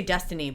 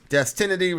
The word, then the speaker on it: Destinity: It's called, I want to say Destiny, but it looks like Destinity.